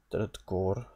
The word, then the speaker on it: går: Går, there's the A with the circle that's pronounced as O.